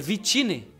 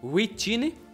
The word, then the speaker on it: Vittini: pronunciar seu nome certo é vittini e não Whitney vitamina E o bichinho